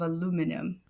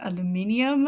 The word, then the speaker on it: aluminium: Nick always makes fun of me because of aluminum. He's like, where? Aluminum, aluminium, aluminum.